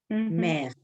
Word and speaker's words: mère: Claro, porque sobre todo en francés suena igual, madre y mar. Mère. Es igual, se escriben distintos, pero suenan igual.